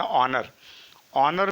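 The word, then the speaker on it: honour: अब आगे देखते हैं ऑनर में एच यहाँ पर साइलेंट है और इसका उच्चारण अ से आएगा।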